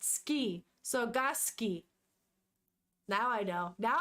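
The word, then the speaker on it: 好き: and then kasuki this oh it's pronounced ski sogoski now I know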